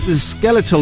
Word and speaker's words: skeletal: Nick says skeletal is pronounced the same way you pronounce skeleton.